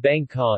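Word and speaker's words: 艋舺: However, the original meaning of the location name, pronounced Bang Ka in Taiwanese Hokkien, old character form Meng Sha, is a rendering of a non-Chinese indigenous name for boat.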